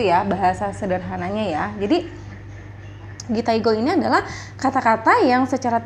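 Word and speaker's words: 擬態語: Ini kanjinya gitaigo dan ini adalah cara bacanya gitaigo ya.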